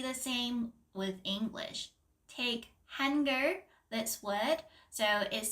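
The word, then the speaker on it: 한글: but then in English h n is hen so it's like hener which is not really the correct pronunciation step two know what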